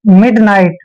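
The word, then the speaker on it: midnight: करेंगे आई को आई पढ़ेंगे और जीच का उच्चारण नहीं करना है और टी को ट पढ़ना है नाइट मिडनाइट मिडनाइट होता है दोस्तों मध्यरात्रि मध्य रात्रि क्या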